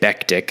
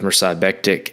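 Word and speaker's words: Mirsad Bektić: You've got Mirsad, I think you say it Bektik, I think. I definitely am a fan of this guy, but I feel like I've heard people say his name differently in different places. But I'm going to go with Mirsad Bektik, and that's versus Ricardo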